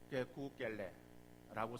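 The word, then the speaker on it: 可口可乐: 그래서 그들의 발음으로는 게쿠겔레라고 쓰는 거예요.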